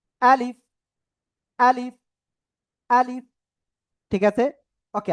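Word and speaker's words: ألف: আলিফ কোন টান হবে না এ অক্ষরে। আলিফ এরকম বলা যাবে না। বলতে হবে ডাইরেক্ট আলিফ আলিফ আলিফ।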